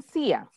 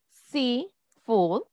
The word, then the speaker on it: seafood: Muchas veces los alumnos dicen sia, porque se confunden, pero la correcta pronunciación es como cuando decís en español, sí. Entonces, my favorite food is seafood.